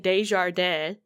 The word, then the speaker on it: Desjardins: This doctor that they have from Quebec, Henry, and they gave him a Spanish last name instead of saying Desjardins, which is the French way to say it.